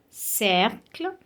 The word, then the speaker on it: cercle: We have cercle, cent, merci, cirque. So, it is pronounced like S.